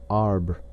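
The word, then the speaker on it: arbre: in the same way he was taught to pronounce ape San and tree AR he was a most eager student and in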